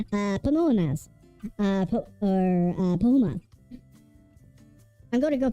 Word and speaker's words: Pamonha: Okay, so what we're actually going to be doing are Pamonhas. I hope I'm the, okay, no, I pronounced the word like Panama several times over. Pamonhas.